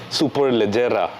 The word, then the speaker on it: SuperLeggera: This today, ladies and gentlemen, is the 2021 Ducati Panigale V4 SuperLeggera. Oh, that pronunciation, Abro.